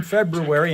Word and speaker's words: February: Pronouncing the R in February and never pronouncing a T in often.